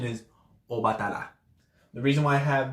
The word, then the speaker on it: Obatala: a W, is because a lot of times how something is spelled and how something is spoken can be two different things. So when you say the word Obatala, and you say it quickly enough, if someone say, hey, who's your crown? Oh, my crown's Obatala. But when you say it like fast and nonchalant, maybe your lips don't close completely to say the ba in Obatala. So you say Obatala.